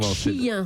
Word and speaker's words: Xi'an: Chien sur place. Chien.